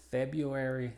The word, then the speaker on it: February: Y es muda en estas dos palabras. La primera es February y la segunda se la dejo de tarea para que se sorprendan cómo se pronuncia.